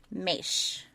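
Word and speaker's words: Moesch: and his friend kyle mesh it's spelled m-o-e-s-c-h but it's bashed and i had to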